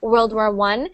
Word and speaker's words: World War I: But when it's spelled like that with the Roman numerals, so that little one there, it's actually pronounced, well, it's actually said World War I. And sometimes you'll see it with two of them, and that will be World War II.